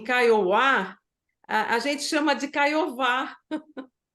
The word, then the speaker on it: Kaiowá: E quando você falou em Kaiowá, a gente chama de Caiová. É Porque Kaiowá, né? o W, né, o W, ele é pronunciado como U, igual o inglês, what, né?